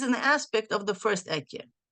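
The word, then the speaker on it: אהיה: And here it is known the idea ekye asher ekye. Now, the reason why we don't pronounce the hey, because it is one of the holy names that we should not be pronouncing.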